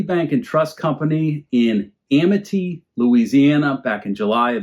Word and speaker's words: Amite: and Trust Company in Amity, Louisiana, back in July of 1926. Amity, A-M-I-T-E. Maybe it's pronounced Amite, but surely it's Amity, which means surely it's Amite.